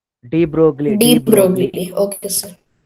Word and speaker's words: de Broglie: Sir, how to pronounce the name? De Broglie, de Broglie.